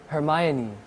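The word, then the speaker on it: Hermione: 헤르미온느. 어, 그거 아니요. 헤르미온느 못 알아들어요? 아니, 저희가 영화를 보면서 헤르미온느 얘기를 하고 있는데 헤르미온느 얘기를 계속해서 못 알아들어요. 헤르미온느 그러니까 아아 하더니 했던 발음이 헤르마이오니.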